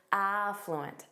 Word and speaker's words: affluent: Notice that syllable stress on the first syllable. Affluent.